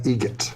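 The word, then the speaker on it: Eget: Adam Egget. Egget. Spelt differently. Like the bird. That's Egret. Do you know what Adam Egert has in common with a guitar player? Adam Egget has in common with a guitar player?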